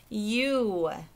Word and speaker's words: you: The Y is okay. We hear that Y sound at the beginning. But O and U are the tricky parts. Okay, in the word you, they sound like ooh, don't they? Y, ooh, you.